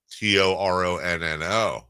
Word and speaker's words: Toronto: Toronto. See? Toronno.